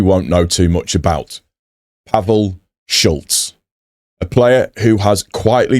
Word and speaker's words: Pavel Šulc: So today we're going to be talking about Pavel Šulc.